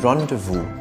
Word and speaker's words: rendezvous: pre Y as in prayer Z as in rendezvous which means appointment I'm the English nut and